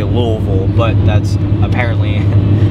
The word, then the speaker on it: Louisville: I'm conscious of the way I say Louisville because a lot of people made fun of me saying Louisville. Apparently that's not how you say it. Apparently the locals don't like when people call it Louisville. So I'm very conscious of how I say it. It's Louisville.